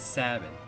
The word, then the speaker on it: Sabin: And Fabio, if you're still here, it's Sabin. Rhymes with cabin. You don't take your family on a lovely trip up to the family cabin. Nice, just in time to catch that holy.